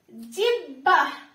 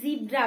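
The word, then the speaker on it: জিহ্বা: আমরা অনেক উচ্চ শিক্ষিত মানুষ আছি যারা এই জিব্বাটাকে আমরা জিব্রা বলি, তাই না? অনেকেই কিন্তু এই শব্দটার সাথে পরিচিত, জিব্রা। কিন্তু জিব্রা বলতে কিন্তু কোনো শব্দ নেই, ঠিক আছে?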